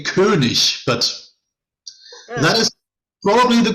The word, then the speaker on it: König: The only thing is the two dots, they say König, but that is probably the closest I have heard today.